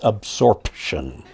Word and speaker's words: absorption: And oddly enough, spelled with a P, I know it's the root word is absorb, but it's absorption.